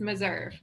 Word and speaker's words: Meserve: Yeah, it's Meserve. Okay, Meserve.